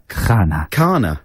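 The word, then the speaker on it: Khanna: How would you pronounce it, you mean? Yes, sorry, pronounce it. Kahana. Kahana.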